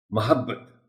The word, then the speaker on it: محبت: کو، رنجش ہی سہی۔ محبت، محبت نہیں کہنا، بہت دفعہ سننے کو ملتا ہے اس لفظ کو غلط تلفظ کے ساتھ ادا کیا جانا۔ محبت میم کے اوپر زبر ہے۔ اصول، اب دیکھا میں